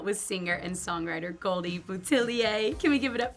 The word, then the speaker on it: Boutilier: we're hanging out with singer and songwriter Goldie butier can we give it up for Goldie in our studio please how was my pronunciation I wanted to get that right for